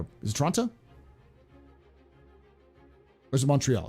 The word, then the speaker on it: Toronto: Also, it's pronounced Toronto.